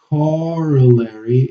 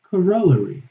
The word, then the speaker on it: corollary: In the US, they say corollary. And then in the, in UK, they say corollary, okay?